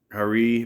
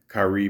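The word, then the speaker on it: Khari: Kirshnik Hari Ball, or it also says you can pronounce his name like this. Kirshnik Kari Ball, June 18th, 1994.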